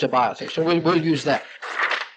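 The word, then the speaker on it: Abiathar: We say Abither, but phonetically in the Hebrew it's a biother.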